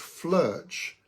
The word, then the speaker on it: Flirch: And so I've come up with this word called Flirch to rhyme with birch.